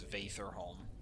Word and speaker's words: Vaitherholm: Actually, her name's Vaitherholm. That would be the correct way to pronounce it.